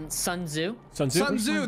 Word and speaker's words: Sun Tzu: Sun Tzu, that's what it is, thank you.